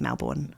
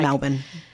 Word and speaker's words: Melbourne: I think they're in Melbourne. Melbourne. It's Melbourne, but nobody says Melbourne. No, it's like Melbourne.